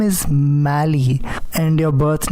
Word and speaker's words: Mali: way you like but the actual pronunciation is mali like sally but mali it has